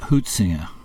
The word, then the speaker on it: Huizinga: And it's interesting that Huizinga used, how do you say it? Huizinga? I say it, he's Dutch. I mean, it's spelt H-U-I. Huitzinger, but the Dutch pronounce it Huitzinger.